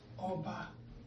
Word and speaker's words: Oba: The closest is for you to pronounce Oba. Oba Tokbe is a. So end of the day, O-B-A is pronounced as Oba. If you dare remove the diacritic, you're going to be pronouncing Oba.